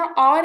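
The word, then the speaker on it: hour: इसी तरह आर है। इसको हम हवर नहीं पढ़ते।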